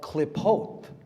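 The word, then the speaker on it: Qlippoth: It's called klipot, klipotic Kabbalah. Look up the klipot. It's spelled Q-L-I-P-P-O-T-H.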